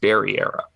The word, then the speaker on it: Barrera: And I know that the Blue Jays wound up taking, and I might mess his name up here, Brandon Barrera? Barrera? I believe it's pronounced Barriera.